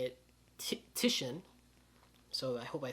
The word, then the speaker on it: Titian: I used to say Titian, but it's apparently you actually say it Titian.